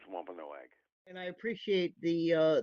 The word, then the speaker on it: Wampanoag: right yes and uh my preferred pronunciation is wampanoag and i appreciate the